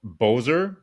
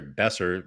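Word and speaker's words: Boeser: ner and Bower yeah so Boer uh sorry besser is how we say his name out of all those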